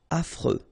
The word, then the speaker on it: affreux: Malonnête circonflex malhonnête désorganisé affreux final not pronounced and then you got this freux affreux ennuyeux OK.